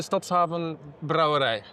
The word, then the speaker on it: Stadshaven Brouwerij: Stadshaven Brouwerij. Brewery. Oh, okay. In Dutch we say Stadshaven Brouwerij.